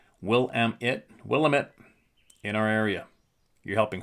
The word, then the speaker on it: Willamette: Yes, you can use my name and some of the emails from Oregon and the Willamette, pronounced Willamette, in our area.